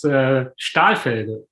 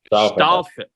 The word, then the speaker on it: Stahlfelge: Am I saying it right? Nearly. It is Stahlfelge. Stahlfelge. It means steel wheel.